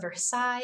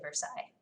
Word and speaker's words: Versailles: There's a lot of letters we just don't pronounce when we say Versailles.